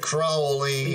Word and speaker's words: Crowley: your crowley i do mr crowley yes which rhymes with holy see i'm getting it